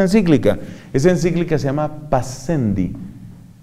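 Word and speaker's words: Pascendi: esa encíclica se llama paz cendi se suele pronunciar para yendi y se escribe para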